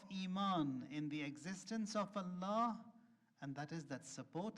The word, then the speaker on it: Allah: alight embedded in it l in Allah is called L Jalal that is why you have to pronounce it with a heavy mouth Allah Allah you write